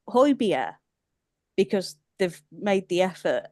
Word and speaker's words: Højbjerg: Everyone can pronounce Højbjerg because they've made the effort, and those letters don't say Højbjerg.